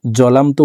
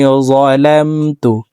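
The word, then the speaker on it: ظلمت: আমরা অনেকে ইন্নী জলামতু পড়ে থাকি। এখানে জিম হরফের উচ্চারণ হবে না, জ হরফকে উচ্চারণ করতে হবে। ইন্নী যালামতু। আল্লাহুম্মা ইন্নী যালামতু নাফসি যুলমান নাফসি যুলমান।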